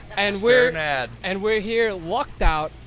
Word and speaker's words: Strnad: How do you pronounce Strnad. Your last name? Strnad.